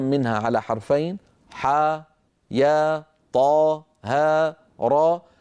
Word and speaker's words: طه: لا نقول طاء هاء بل نقول طاها.